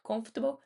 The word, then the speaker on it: comfortable: Comfortable é confortável.